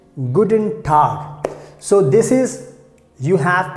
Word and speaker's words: Guten Tag: greet someone by saying guten tag so this is you have to keep in mind and just uh keep in mind this g will be pronounced like a car but don't worry we